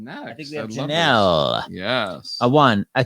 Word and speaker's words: Jonelle: Are you pronounced Jonelle or Jonelle? It's actually Jonelle. Jonelle.